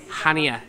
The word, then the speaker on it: Chania: town in greece called hania well that's how it's pronounced it actually looks a little bit more like chania china so if you